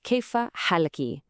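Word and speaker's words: كيف حالكِ: So to a man, you ask, kaifa halaka. Hear that ka at the end? And to a woman, it's kaifa halaki with that ki sound.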